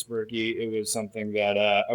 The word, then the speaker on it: Birky: It rhymes with my name, Birky.